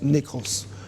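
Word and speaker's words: νεκρός: La mort se prononce nékros.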